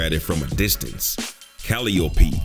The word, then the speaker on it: Calliope: Calliope, Clio, and Euterpe. Yeah, that's how you pronounce them.